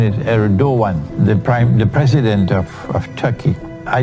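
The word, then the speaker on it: Erdoğan: But the pronunciation is Erdogan, the president of Turkey.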